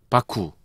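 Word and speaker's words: 麦: 바쿠. 보리. 보리 맥자를 자기가 마음대로 읽는 거잖아, 지금. 맥을 한자로는 일본어로는 바꾸라고 읽어요. 바꾸라고 무기라도 읽지만 한자 도금으로 할 때는 바꾸.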